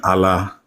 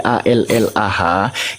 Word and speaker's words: Allah: dalam huruf latin menjadi a l l a h itu tetap pembacaannya mengikuti kaidah bahasa Arab bertafkim dia ditebalkan pengucapannya anda tahu enggak arti Allah